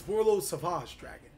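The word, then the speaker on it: Borreload Savage Dragon: You gotta say it like that, ladies and gentlemen. It's Borlo Savage Dragon.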